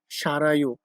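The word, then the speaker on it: 살아요: আমার পরিবার ভিয়েতনামে সারাইও। মূলত আমরা দেখেন শালদা শব্দের অর্থ বসবাস করা পড়েছি, কিন্তু এখানে সারাইও হচ্ছে এই কারণে রিউল বাচ্চার পর ইয়ং আসছে, এজন্য রিউলটা উপরে উঠে রর মতো উচ্চারণ হচ্ছে।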